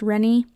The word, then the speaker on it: Renne: That spelling can also be pronounced Rennie.